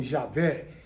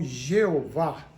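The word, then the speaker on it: Yahweh: a grafia no tempo a melhor pronúncia talvez fosse yahvé outros falam Javé e outros falam Jeová o fato é que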